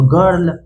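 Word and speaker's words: girl: ये ऐसे एक्सेप्शन है ध्यान होगा आप लोग को कि जी का उच्चारण ग से होगा यहां पे ज से नहीं होगा ये एक्सेप्शन है ना और आई आर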